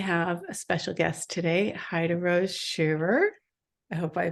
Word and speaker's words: Heiderose Scheerer: I have a special guest today, Heiderose Scheerer. I hope I pronounced that correctly. From That's Germany. close enough. Say it properly for me. Heiderose Scheerer. Okay. Heiderose Scheerer.